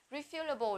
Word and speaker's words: refillable: Refillable là có thể làm đầy lại. Nó là một tính từ. Có thể làm đầy lại. Và trọng âm ở âm tiết thứ hai, refillable.